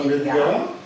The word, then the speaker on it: Vélingara: Alors, donc, merci pour toutes ces précisions donc, de l'économie de cette ville, Vélingara. J'espère que je le prononce bien. Oui, c'est ça, Vélingara.